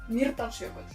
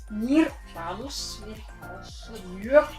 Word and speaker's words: Mýrdalsjökull: refuge qui nous apprend les rudiments de la prononciation de l'islandais. Pas facile. OK. And the other one is Mýrdalsjökull. Mýrdalsjökull.